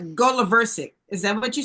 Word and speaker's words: Goloversic: Oh, it's go. Okay. The accent is on the go. Right. Goloversic.